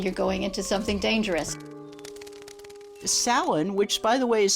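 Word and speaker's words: Samhain: going into something dangerous Salon which by the way is spelled s m ha a i n it looks like it should be pronounced Sam ha but it's not it is Salon was a day that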